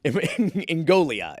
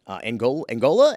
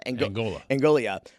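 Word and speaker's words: Ingoglia: Ngoglia is how you pronounce it. Angola? Ngoglia.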